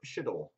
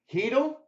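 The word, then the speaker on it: Chytil: And for the Rangers, Philip Schittle. How do you pronounce this guy's name?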